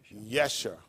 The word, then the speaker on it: Yeshua: being now I think his name would actually would have been pronounced Yeshua not Jessica we don't have a j but let me clear